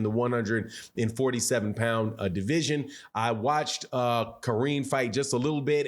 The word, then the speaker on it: Karine: Ukraine whose first name his first name is Karine, spelled like it's Karen, but Karine, a Ukrainian fighter with one loss.